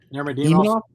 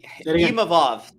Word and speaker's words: Imavov: Imanov? Imanov, yeah. Imavov. There's no N in it.